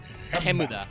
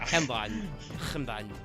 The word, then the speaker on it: Kemuda: The way that the corresponding Qlipha is pronounced is Kemuda. Yeah, it's Hemda in Hebrew, but it's Kemuda in the Romaji, the Japanese pronunciation for it.